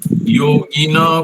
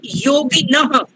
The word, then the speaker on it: योगिनः: दैवमेवापरे यज्ञं योगिना पर्युपासते ब्रह्माग्नाव परे यज्ञं यज्ञेनैवोपजुह्वति। हाँ जी, बता सर आपने योगिनः, वहां पर ह का उच्चारण नहीं हुआ, योगिनः। योगिनः।